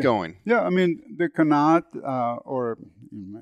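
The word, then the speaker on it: qanat: Yeah, I mean, the Kanat, or if you want to say it in Farsi, if there's any Persian listeners, Kanat, that's how they say it, which is used in that part of the world.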